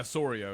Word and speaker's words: Soria: They've traded Price to Toronto, Cespedes to the Mets, and how do you pronounce the reliever's name? Soria? What is it? Yeah, Soria.